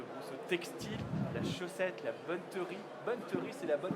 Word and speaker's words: bonneterie: Aymeric Brousseau, président de Brousseau Textile, la chaussette, la bonneterie. Bonneterie, c'est la bonne prononciation.